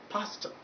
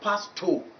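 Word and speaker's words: pastor: Tata that is where you find this out pasta pasta not past two when you pronounce it as past all you are put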